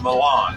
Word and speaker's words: Milan: It's almost spelled like million, but it's Milan.